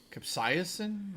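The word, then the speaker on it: capsaicin: Cap Cap uh Capsiasin. Capsiain.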